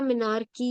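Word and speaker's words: menarche: तो इसी तरह मीनार की होता है, मीनार और ऐसी कोई नए नए वर्ड्स नहीं, मीनार की।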